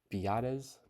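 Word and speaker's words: Biadasz: Nick Alig from the Chiefs they got Tyler beades that's how you pronounce it from the Cowboys they still have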